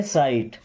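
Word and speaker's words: sight: ऑफ माय साइट ऑफ मी्स का या से माय मींस मेरे साइट। साइट। अब यहां पे जी और एच दोनों साइलेंट है ना जैसे नाइट होता है।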